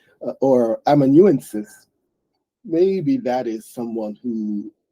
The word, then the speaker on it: amanuensis: So it looks like it's pronounced amanuensis, amanuensis.